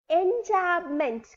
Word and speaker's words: enjambment: In the same manner, the poetical device which you are going to know today is enjambment. Come on, pronounce with it.